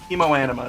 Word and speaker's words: Hemoanima: With the little Hemoanima is how you pronounce it.